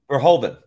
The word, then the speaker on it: Verhoeven: How do you pronounce his name? Is it Vorning? Or the director? Mm-hmm. Verhoeven. Verhoeven.